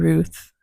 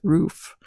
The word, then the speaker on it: Ruth: the other Ruth Ruth sorry everybody I mispronounced I don't know why I called Ruth rof um Ruth take to